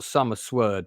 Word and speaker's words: Sommerswerd: It's spelt Sommerswerd, but it's meant to be sword.